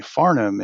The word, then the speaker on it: Farnum: name i say well think of the barnum and bailey circus but this would be farnum and it's a whole different circus let me tell you